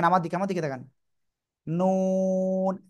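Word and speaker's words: نون: আমার দিকে তাকান নুন জিহ্বার আগা তার বরাবর উপরে তালু এর সাথে ওই যে শক্ত জায়গা আছে না এই দাঁতের গোলার একটুখানি উপরে এই জায়গায় লাগাবেন জিহ্বার আগা লাগিয়ে দুই ঠোঁট একটু গোল হবে এরপরে আমরা উচ্চারণ করব বেশি গোল না কিন্তু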